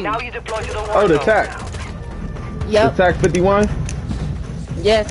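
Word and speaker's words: TAQ: It's called... It's spelled T-A-Q. Now you deploy to the TAC.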